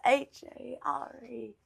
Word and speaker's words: hare: You don't pronounce the R. I said a hare.